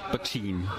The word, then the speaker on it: Poitín: No, mělo by se to vyslovovat Poitín, takže to O je takový jako nevyslovený, takový němý, s tím, že v